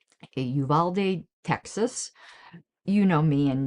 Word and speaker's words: Uvalde: This is a fiction based upon his true life story in of the school incident in Yuvalda. I know I'm pronouncing that wrong. Yuvalde Texas.